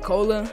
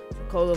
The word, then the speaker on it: Kolah: pat's may jay and i think you pronounce like cola he is the founder